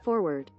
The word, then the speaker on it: forward: most Americans pronounce it forward a phenomenon has emerged in recent decades in which some Americans drop the first R in linguistic circles this phenomenon is known as dissimilation that's when speakers wow